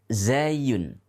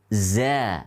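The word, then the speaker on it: زاي: ini adalah huruf z kalau kita mengeja di dalam bahasa Arab namanya Zain Zain yaitu huruf Z Hai ingat Hai seringkali ini diucapkan dengan nama huruf dza Hai pizza adalah roket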